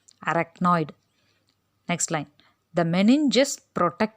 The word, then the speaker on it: arachnoid: அந்த ARACHNOID அப்படிங்கிறத அந்த சிஹெச் நடுவில் வருதில்ல, அதை எக்கு சவுண்டோடு தான் ப்ரொனவுன்ஸ் பண்ணணும். அரக்னாய்டு.